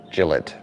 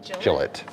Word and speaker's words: Gillette: a Gillette Wisconsin but unlike your Gillette it's minus an e pronunciation rhymes with Skillet so Gillette Gillette in reality there isn't